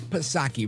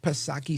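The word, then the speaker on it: Psaki: Jen per Circle back pasaki remember Jan per Circle back pasaki silent P of course and I I you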